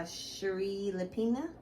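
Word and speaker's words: Shari Lapena: i read was not a happy family by sheree lepina this is how you pronounce her name girl you just picked up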